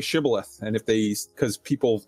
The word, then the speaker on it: shibboleth: if they they would ask them like say shibboleth and if they because people the iphone might said it they pronounced it sybileth and uh yeah the right code word the